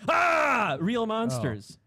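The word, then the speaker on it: Aaah!!! Real Monsters: come on come on it's pronounced ah real Monsters man that's I never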